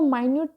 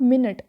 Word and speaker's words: minute: There was अ मायन्यूट tier in the fabric. Tier म्हणजे काय, ह्याचं एक्झाम्पल मी देऊनच टाकतो तुम्हाला. मायन्यूट, नॉट मिनिट.